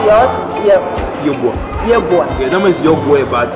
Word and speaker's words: Yeboaa: How do you pronounce yours? Yeboaa.